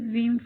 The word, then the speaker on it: Veeam: We all love Veeam, but why is it called like that? Originally, Ratmir Timashvi and Andere Brunavo founded Veeam in 2006. They called their company from the phonetic pronunciation of letter VM, stand for virtual machine.